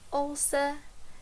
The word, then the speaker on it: ouça: And here an example, força, ouça. And as you may realize, when we have the C cedilha, it's just like as if we had the letter S. So it has a letter S sound.